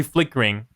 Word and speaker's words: flickering: been oh you say flick carrying right flick carrying flickering I say I say flickering it's like I I don't pronounce the E there I see I think